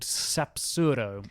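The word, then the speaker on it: Sapzurro: to an even more special beautiful place called sapuro I think I've got that one right yeah you have but let's spell it anyway it's s a p z u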